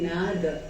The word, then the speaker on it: नाद: तो संस्कृत में कहते हैं नाद, हिंदी में वो सब चीज को हम हलंत बना लेते हैं, पर असल में है नाद।